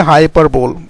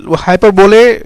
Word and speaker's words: hyperbole: तो हाइपरबोले या हाइपरबोल इसका सही प्रोनाउंसिएशन है।